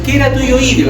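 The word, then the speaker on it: queratohioideo: Después viene este chiquitito que está ahí, que es el queratoioideo. Ya ahí está escrito en latín ceratoioideo, que se pronuncia querato, como en italiano.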